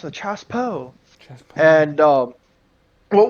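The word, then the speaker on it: chassepot: I first read it I call it the chassen pot that's the American um but it's actually pronounced the Chas po CH Po and um what was neat is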